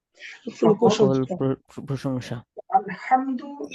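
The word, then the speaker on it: الحمد: আলহামদু এই জায়গায় হা, বড় হা রয়েছে। যদি কোনো ব্যক্তি বড় হা এবং ছোট হা এর মাঝে তারতম্য না করে উভয়টাকে স্বাভাবিক ছোট হা এর মতো উচ্চারণ করে, সো অর্থের মধ্যে বিকৃত হবে।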